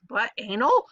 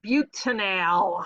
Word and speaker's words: butanal: No, Mrs. Vanderway, don't say that. It doesn't look like it's butanol. All right, no, say it right. It's butanal. All right.